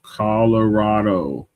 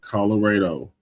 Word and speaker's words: Colorado: So, it's pronounced Colorado, not Colorado. Coloradoatans say RAW while another half of the United States says Ray.